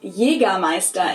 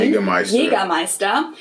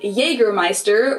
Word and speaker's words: Jägermeister: From shoes to alcohol, this is pronounced Jägermeister in German. Jägermeister. English speakers usually say Jägermeister, which is pretty much the same, just with a pretty thick accent.